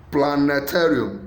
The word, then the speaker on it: planetarium: Planetarium. A, stress is on plan. B, stress is on A. C, stress is on ta. Then D, stress is on al. The answer is C, planetarium.